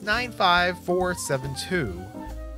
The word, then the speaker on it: 95472: 3 four and 5 last name is 95472 with the accent on the four five's father is bad-tempered